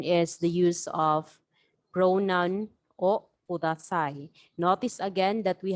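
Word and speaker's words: を: Another pattern that you should learn is the use of pronoun o kudasai. Notice again that we have here the word wo. However, this is pronounced as o in the native Japanese.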